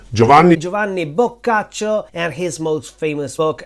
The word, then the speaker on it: Boccaccio: Deone Joan not Giovani bacho not bashio or bachio let's jump just for